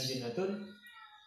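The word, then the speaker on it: جِنَّة: Nah, ini contoh tiga kata yang sama hurufnya, hanya satu perbedaan harokat di huruf pertama, junnatun, jannatun, dan jinnatun, tapi maknanya beda.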